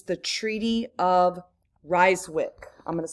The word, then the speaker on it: Ryswick: somewhere out here that it's the Treaty of Ryswick. I'm going to spell that for you. R-Y-S-W-I-C-K.